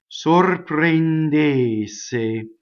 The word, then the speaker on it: sorprendesse: of brain they say every single Oh in e in this word is closed sorprendes say and I separated again